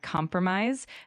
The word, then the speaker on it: compromise: One area to focus on might be the word compromise. Make sure the emphasis is on the Compromise. first.